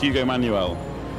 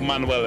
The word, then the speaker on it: Manuel: Yes, it's Manuel. Or Manuel, if you just say it wrong.